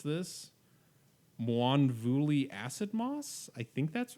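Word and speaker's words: Mwonvuli: I think that's right I just say it m manvi I don't even try and pronounce the W to be honest with you but you know I'm I'm sure you're the one saying it right here there is a w in the word uh so so it's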